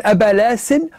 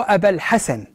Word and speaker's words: أبا الحسن: الشماخي في كتاب السير يقول في حديثه عن أبا الحسن، يقول أبا لاسن هو أبا الحسن لأن النفوسيين لا ينطقون حرف الهاء، وذكر كذلك من ضمنهم مامد محمد وأبا هارون أبارون.